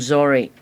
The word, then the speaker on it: zori: We call them zori. Zory. Yeah. Like z r i or I mean phonetically.